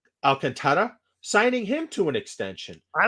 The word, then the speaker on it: Alcantara: Franco, and Florida signing Avi and, is it pronounced Alcantara? Alcantara, signing him to an extension.